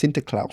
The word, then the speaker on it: Sinterklaas: Now Santa Claus is actually based on a Dutch legend about Saint Nicholas, which is pronounced Sinterklaas Sinterklaas. in Dutch.